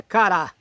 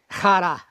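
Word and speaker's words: χαρά: A palavra alegria usada por Paulo aqui é cará. Cará. Os gregos, o grego moderno diria hará, hará, cará.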